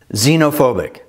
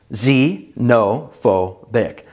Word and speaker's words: xenophobic: Let's hear and practice each word one at a time with proper pronunciation to make sure you're hearing and pronouncing the words correctly. Xenophobic. Z-no-pho-bic.